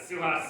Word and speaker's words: Suhas: but um my um suas this how you pronounce it call me suas so anytime even if I'm in Congress call me suas my my family came